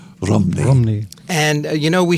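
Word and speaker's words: Rhymney: it the bells of rney but that's not accurate it is it that's how it's spelled r h y m n y but there they pronounce it more like Romney Romney rney and you know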